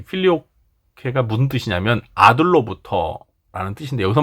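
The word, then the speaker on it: Filioque: 이 필리오케가 무슨 뜻이냐면 아들로부터라는 뜻인데, 여기서 말하는 아들은 이제 성자 예수님을 말하는 거예요. 그래서 이 필리오케라고 이렇게 한글로 썼는데, 사실 정확한 라틴어 발음은 필리오쿠에입니다. 필리오쿠에.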